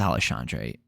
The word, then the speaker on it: Alexandre: uh taken on I it's alandre I've heard it pronounced both ways but I'm pretty sure it's alandre panoo so he's taking